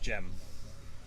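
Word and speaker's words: Cemal: yeah a translation because on the continent the C is pronounced as a j it's chem little oh yeah so uh gem is his his name is actually c-e-m-a-l oh but it's pronounced gem is up Beverly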